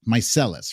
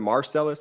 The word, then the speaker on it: Meiselas: but your names and correct me if I'm wrong it is my mycellus right actually a perfect pronunciation of the last name a lot of people get tripped up some people throw R's in there when they're trying Marcellus I'm like where'd you get the r from it doesn't even exist